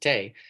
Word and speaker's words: Tae: I'm like, "No, it's actually pronounced Tay," and they're like, "Well, what do you mean?" I'm like, it's Korean, and that's how it's pronounced."